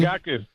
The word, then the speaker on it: Rigaku: Do I have all that right with Rigaku? Did I say that correctly? Rigaku.